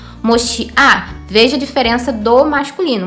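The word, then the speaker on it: מושיעה: Dando uma entonação um pouco mais forte, passa a ser a sílaba mais forte, então a gente fica com esse som. moshiá.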